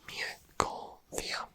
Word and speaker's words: Mia Corvere: Here we go with some name pronunciations. Mia Corvia.